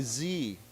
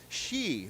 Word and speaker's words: Xi: They all say Xi Jinping. Because it's spelled with an X. Nobody says it properly, and I can't figure out why nobody talks to these guys. These are big TV stations and says it's not Z, it's Xi, right?